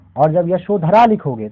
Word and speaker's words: यशोधरा: बुद्ध में ध वर्ड का उच्चारण होता है और यशोधरा में भी धरा ध वर्ड का उच्चारण होता है।